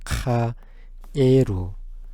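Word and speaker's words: 蛙: 발음은 카에루입니다. 카에루.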